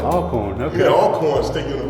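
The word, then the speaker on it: Alcorn: oh yeah this is all corn it's pronounced all corn all corn okay all corn sticking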